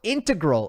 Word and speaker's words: integral: to your success how integral is a shot some people pronounce that word integral I go integral how is how how